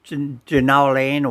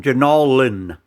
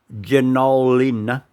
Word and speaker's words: Jenolan: then they went out to he called it ginolan or do not anyway it's called jenolin janollin caves it's a famous caving